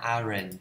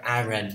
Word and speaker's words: aren't: Mình đọc, đừng có đọc iron nha. Iron là sai.